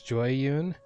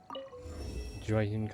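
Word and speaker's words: Jueyun: See, I struggle with pronunciations in this because a lot of it's derived from either Chinese or a non Romanized language, and the only reason I started pronouncing it as Joyun is because of the dialogue, the pronunciation of some of the characters in it. It seemed to be relatively consistent with Joyun Karst, and I just tried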